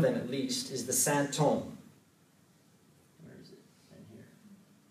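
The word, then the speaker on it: sinthome: Santome, in French, it's actually, the spelling is weird, but it's just the sort of medieval French spelling of symptom. It sounds just like symptom, so in French they're pronounced the same, but it also sounds like holy man, Saint-Homme.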